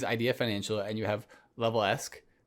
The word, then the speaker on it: LevelEsq: financial and you have level-esque that's what you say it right level ask correct from a revenue perspective